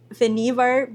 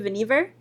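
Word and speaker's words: Vannevar: um like I was looking for something about Venivvar Bush that is actually how you pronounce his name I believe Venevver I wanted to just mention about like his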